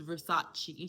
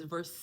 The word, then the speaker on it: Versace: These men that she encountered, they think she's dumb because she can't pronounce Versace. She says verse.